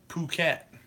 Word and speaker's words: Phuket: Phuket. See, I pronounced it right.